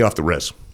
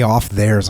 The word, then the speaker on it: off the res: Way off the res. Way off the res. Dude, I've been I've been saying that thing wrong for a long I was way off theirs.